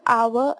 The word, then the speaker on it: hour: before our and honest, we also use an because when we pronounce these words, H remains silent and the second letter of the word o is sounded.